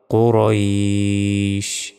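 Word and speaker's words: قريش: পড়তে হবে লি লাফি কুরাইশ কু বলা যাবে না কু মোটা ভাবে কুরাইশ তারপর হামজা ইয়াজের ই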